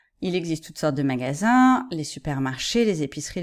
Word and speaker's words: magasin: faites bien attention que le magasin où on va acheter les choses c'est nasale ya pas de l'insee 1 le magazine c'est comme en anglais c'est une revue c'est